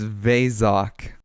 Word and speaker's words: Vok: It's Vok.